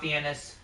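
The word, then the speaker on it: Fiennes: actors of Kilmer Ralph find raes um I've never understood why that's pronounced that way but yeah neither have I Ralph fenis um find I'm one to go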